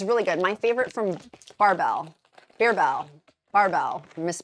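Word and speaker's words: Barebells: you say it which per the usuge I'm mispronouncing it bebell I was calling it bebell earlier it's barbell barbell bebell I was saying it wrong my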